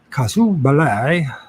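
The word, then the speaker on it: casus belli: fuse of a uh cause casu ballet Bal is how you pronounce it kasu Bal let's see if I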